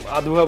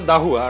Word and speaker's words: Dahua: আর এই দাহুয়াটা, এখানে একটা মজার বিষয় আছে, দাহুয়াটা এখানে অনেকে উচ্চারণের সমস্যা ওই ডিজাইনের কারণে, মানে আধুয়া বলে বা এক্সওয়াইজেড বলে, তো এটা হচ্ছে আছে আর দাহুয়া, আর দাহুয়া হচ্ছে যে